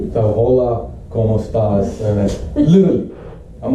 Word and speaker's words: hola: I didn't know the H is silent. So hola, ¿cómo estás?